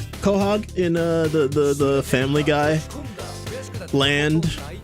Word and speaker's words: Quahog: How do you say Quahog? Quahog in the Family Guy land.